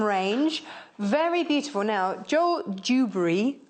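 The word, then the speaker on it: Dewberry: very beautiful now Joel dubber I have to really slow down to say his name um so we don't say dubery dubery yeah D Jo uh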